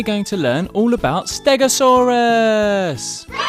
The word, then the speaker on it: stegosaurus: to learn all about stegosaurus how do you say that again stare go saw russ can you say it